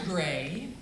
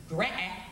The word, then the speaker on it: Graae: Graae. Some pronounce his name Mr. Graae.